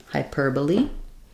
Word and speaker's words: hyperbole: So even though this looks like hyperbole, we're stressing on the per, so that changes how we pronounce it. So we have hyperbole. Our O is an sound there in the unstressed last syllable, hyperbole.